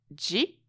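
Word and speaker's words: 時: So the Chinese pronunciation is ji, and the Japanese pronunciation is toki.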